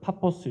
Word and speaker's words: 파포스: 좀 우수운 이름처럼 보이지만은 이제 원래 발음대로 하면은 파포스 있니다이 동쪽인 살라미를 가서 서쪽인이